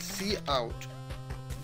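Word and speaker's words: cout: we need to write C out the cot object is used to display text pronounced C out followed by two opening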